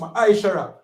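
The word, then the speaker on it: מעשר: verse 8 to 10, means 10 in Hebrew and is pronounced ma'ashara.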